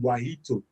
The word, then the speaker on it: Wahito: it so contact lady why ito all right uh or why yeto if you are kenyan you know from west africa we call it guajito uh and i'm sure